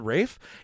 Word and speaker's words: Ralph: twilson Wickham fs and Ralph is pronounced Rafe to rhyme with safe how do they buried